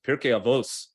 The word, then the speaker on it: Pirkei Avot: But this one says Pirkei Avot, or it doesn't say Pirkei Avot, it says Pirkei Avos, like in the old Ashkenazi pronunciation, the sage's guide to living.